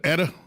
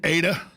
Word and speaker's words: Eta: to pronounce it a lot of people said etta the correct pronunciation is ada zeta eta uh if you uh know the